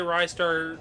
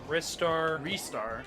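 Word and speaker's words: Ristar: games titles differently like I say Rye star she says restar restart I've heard restar foreign okay this is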